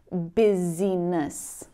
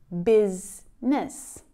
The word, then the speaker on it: business: Instead of looking at the letters in this word and trying to pronounce them, maybe saying busyness, you'll see the actual sounds that combine to produce the word and pronounce it correctly.